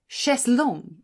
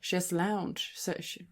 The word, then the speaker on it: chaiselong: In 1961, IKEA introduced an organically shaped chaiselong. Is that how you say it? We say so in Swedish. Chaiselong. Yeah. Chaiselounge.